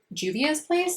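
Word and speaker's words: Juvia's Place: So I've got these new palettes from Juvias place, I believe is how you say it.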